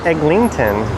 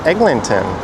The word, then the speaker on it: Eglinton: And that bonus is not Egllington. It is Eglinton. E G L I N T O N. Egglinton. All so often you hear people in corre incorrectly pronounce it as Egllington.